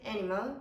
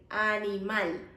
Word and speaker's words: animal: So we don't say animal, we say animal. Like the strongest pronunciation will be at the end.